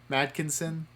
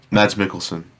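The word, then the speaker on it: Mads Mikkelsen: collaborations with mad madskins madkinson is that how you pronounce it it's just mad's milk uh oh crap um mads Mickelson mads Mickelson mads Mickelson um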